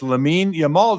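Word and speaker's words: Lamine Yamal: It's Lamein Yamal.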